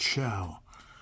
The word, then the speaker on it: Show: It should be show, but I heard it's pronounced Shao.